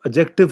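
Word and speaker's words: adjective: और third number पे है रिलेटिव क्लॉज, जिसे हम एडजेक्टिव क्लॉज भी कहते हैं, डी साइलेंट होता है।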